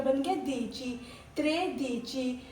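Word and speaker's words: dieci: अब ये प्रोनाउंस ध्यान से याद रखना। दीची, ये क्या बन गया? दीची।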